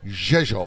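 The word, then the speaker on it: Rzeszów: just read it cuz it starts with an R but you never hear the r and we've been reliably informed by locals that it's pronounced zov zov what are we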